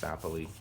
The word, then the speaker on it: sapele: Here's more of this sapele. I've also heard it pronounced sapele.